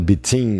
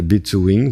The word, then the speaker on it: between: Ele tá dizendo que o W tá fazendo som de , então a palavra não é between, mas é bitwin.